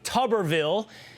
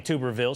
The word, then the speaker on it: Tuberville: It is Alabama Republican Senator Tommy Tubberville. Okay, Senator, Coach, sorry for saying Tuberville. Sometimes things come out of my mouth that I can't control and I know you well and I know it's Tubberville, but it might not be coach.